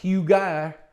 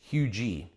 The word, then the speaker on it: Huger: is huge yeah so let me go ahead and spell that for you it's h u g e r no no no you you heard that right h u g e r not Huger not hugar it's hugi or hugger or higger you